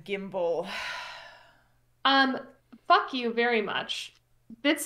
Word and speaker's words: gimble: Was briling in this slithy tove, did gyre and jimbir in the waves. Okay, all mimsy were the borogroves and the mumble raths outgrabe. It's pronounced gyre and gimble.